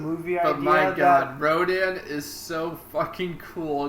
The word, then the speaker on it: Rodan: At least they pronounced it right. At least they don't call him like a Radon or something, which is a thing an older movie did.